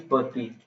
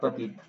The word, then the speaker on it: petite: First is pati, not patit.